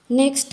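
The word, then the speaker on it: knock: यहां पर साइलेंट है नॉक दरवाजा नॉक करते हैं उसको हम के प्रोनंसिएशन नहीं करते यहां पर नेक्स्ट नीड यहां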